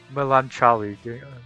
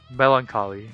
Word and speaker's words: melancholy: He actively seeks battles, but sometimes get lost in melancholy. How do I spell it? How do I pronounce that, Zach? Lamb chop? What? Melancholy.